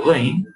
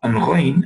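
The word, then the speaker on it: غ: Kha and Ghain. Kha and Ghain originate from Adna al-Halq. Basat al-Halq. Aqsa al-Halq. None of the mentioned. Kha and Ghain. Kha. And Ghain, and you should try to pronounce these letters.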